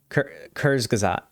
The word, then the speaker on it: Kurzgesagt: I'm sure, has done a video on it's Kurzgesagt.